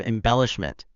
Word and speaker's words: embellishment: It's embellishment. Try putting emphasis in the second syllable.